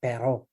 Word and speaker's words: Perreault: I just, first of all, I like the way you say Perreault. It's a very French way of saying Mathieu Perreault.